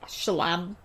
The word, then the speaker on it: Schlamme: There's no accent on the E or on the A or anything. It's Schlam.